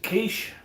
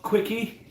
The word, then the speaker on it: quiche: And uh it is pronounced kiche, okay? Not quickie.